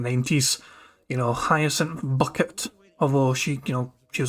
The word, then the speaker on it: Bucket: You know, Hyacinth Bucket. Although she, she was like she wanted to be, proper. She wanted to be posh, so she pretended her name was pronounced Bouquet, even though it's spelled bucket.